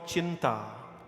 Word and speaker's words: chinta: called worry is called chinta chinta is something called worry but it it rhymes with chitta chinta and chita chinta means worry and